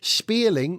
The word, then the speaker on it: Spéirling: y yes it's Irish MC Mery spearing is spelled s p e i r l i n g so type that in